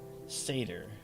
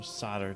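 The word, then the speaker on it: Sadr: through cygnus uh will take us to seder uh or solder depending on how you want to pronounce it and um we'll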